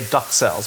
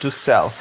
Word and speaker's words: Duxelles: It's a French word. Some people say Duxelles, but it's Duxelles.